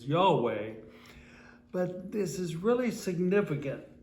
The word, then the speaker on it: Yahweh: not have any vowels it only has consonants therefore it cannot really be pronounced uh j h w h is hard to pronounce whoop whatever it is but of course we in english have added a couple vowels and we refer to that word as yahweh but this is really